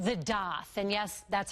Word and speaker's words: daith: the ear we're talking about it's called the doth and yes that's how piercing artists say it's pronounced some people who suffer from chronic migraines